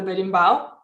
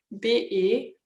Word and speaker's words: Berimbau: It's called the berimbau.